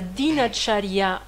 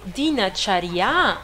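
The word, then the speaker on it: दिनचर्या: Donc, même si le mot, il est dinacharya, on ne le prononce pas dinacharya, on le prononce dinacharya, parce que le A, il devient E, parce que comme la dernière voyelle, elle est forte, elle devient faible, dinacharya.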